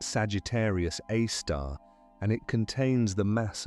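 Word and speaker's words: Sagittarius A*: Its name is Sagittarius A star written as Sagittarius A with an asterisk pronounced Sagittarius Aar.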